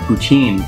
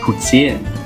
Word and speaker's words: poutine: If you really want to sound like a pro, don't pronounce it poutine, pronounce it poutine.